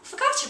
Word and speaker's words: focaccia: Now, at this restaurant, they have this lovely, delicious thing that you can get called focaccia bread, which I think is how you pronounce it.